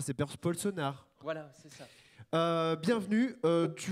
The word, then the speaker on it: Polsenaere: Donc il y a un E, mais il ne se prononce pas, c'est Polsonard.